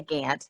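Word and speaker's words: Gauntt: and my father turner maurice gant spelled like gaunt but we said we say gant in texas um was a graduate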